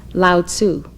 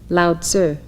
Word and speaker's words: Lao Tzu: are studying his writings many of you have commonly heard his name pronounced Lao Tzu but it is correctly said loud sir and it is spelled l-a-o-t-z-u lauter would you like